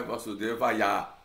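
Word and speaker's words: Vāsudevāya: Lembrando que não é Vasudevaya, né?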